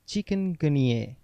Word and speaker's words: chikungunya: chicken plus gun plus yay yes the correct pronunciation is chikungunya the word chikungunya is derived from a